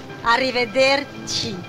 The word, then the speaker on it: arrivederci: How do you pronounce that? Arrivederci.